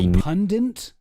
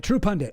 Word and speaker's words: True Pundit: True Pundant published an article about the True Pundant. Sorry, I've been going a little hard on people mispronouncing stuff, and I do that all the time, but True Pundit, also another completely unreliable source.